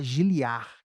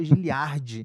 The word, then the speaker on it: Giliard: é mó confusão, porque é para se pronunciar Giliar, que o D é mudo, tipo Record. Mas aí ninguém me chama, é só Giliardi.